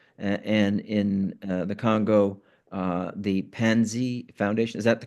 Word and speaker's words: Panzi: And in the Congo, the Pansy Foundation. Is that the correct pronunciation? The PANZI, Pansy Foundation.